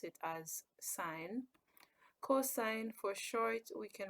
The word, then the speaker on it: sin: can write it as Xin but we still pronounce it as sine cosine for short we can write it as